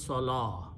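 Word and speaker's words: صلاة: to the lamb so the word becomes salah swallow wow is not pronounced okay then we add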